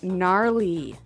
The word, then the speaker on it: gnarly: the ski instructor say gnarly gnarly run yeah gnarly so an interesting word it's spelled g n a r l e y okay so but you don't say gnarly no you say gnarly yep and a related word